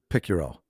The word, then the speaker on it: Picciurro: Welcome to Keep Hustling with my guest Chris Picurro.